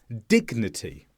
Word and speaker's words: dignity: Here we have G followed by N, but we do pronounce the G because the G comes at the end of one syllable and the N starts the next one.